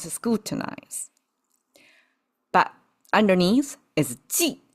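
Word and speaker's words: 祭: But underneath is jì, pronounced as jì.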